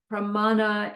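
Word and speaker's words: प्रमाण: Pramana is Sanskrit. It's short A, long A, short A.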